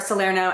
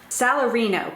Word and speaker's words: Salarino: that antonio is really vile to as are salerno and solanio did i say his name right salarino goddammit all these italian names also his daughter